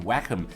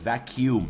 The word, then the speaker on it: vacuum: มา เชื่อม กัน เป็น vacom ก็ คือ ตี มัน ให้ หมด เลย อะไร ประมาณ นั้น นะ ครับ แต่ ที่ จริง คำ นี้ นะ ครับ ออก เสียง ว่า vacuum นะ ฮะ ถ้า คุณ มี ปัญหา